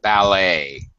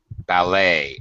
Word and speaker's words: ballet: note here carlos a ballet ballet french word you don't need to pronounce the t ballet and it has an a sound ballet that's it ballet that's